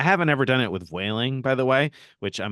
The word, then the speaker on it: Vueling: ever done it with wailing by the way which I'm going to be the first to correct your pronunciation I think you saiding veiling uh because it's like Voos Voos or flights in Spanish so uh I haven't